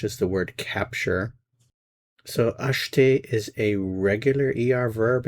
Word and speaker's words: acheter: And the verb we're going to look at today is the verb acheter. Acheter. Notice that the E is not pronounced acheter.